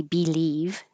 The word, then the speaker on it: believe: And by itself, this be is not stressed. So it's very rare that I hear anybody say believe. It's usually a B like up or an I like it. B. But it'll be so short you won't notice which one really.